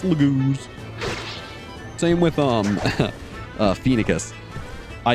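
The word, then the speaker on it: Largo: but that's one that I'll happily change the pronunciation for um same with like Lago it looks like lagas but Noe it's Lago same with um phicus I used to when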